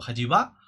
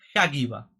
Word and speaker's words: Haggibah: Pues aquí tenemos a, o Hajiba, no lo sé, la verdad es que Gemini me ha dicho que se pronuncia Hagiba, Hagiba, ¿vale? O sea, no sé, decidlo como queráis.